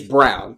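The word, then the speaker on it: Braun: Brun Brown it's it's brown but e at the end no no no it's it's spelled b r a u n but it's pronounced Brown like Brun but brown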